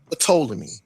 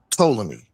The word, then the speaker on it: Ptolemy: It could be pronounced Ptolemy because the ancient Egyptians were the way they pronounced it was we could pull it up, but it's not Ptolemy. That's Greek, but they pronounced it with the P to T like Ptah.